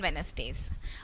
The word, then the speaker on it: Wednesdays: So here P and here Wednesdays. So of course here D is silent.